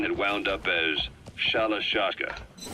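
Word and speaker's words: Shalashaska: By the time I got to hearing about it, pronunciation had wound up as Shalashashka.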